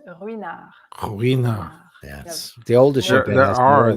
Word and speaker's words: Ruinart: Next, you have another silent letter is Ruinart.